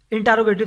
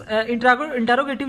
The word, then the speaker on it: interrogative: अब स्टूडेंट्स मज़ीद देखें आगे इंटरोगेटिव सेंटेंसेस के बारे में। इंटरोगेटिव स्टूडेंट्स इंटरोगेटिव जो है वो रॉन्ग प्रोनाउंसिएशन है, इसको आपने पढ़ना है इंट्रोगेटिव सेंटेंसेस।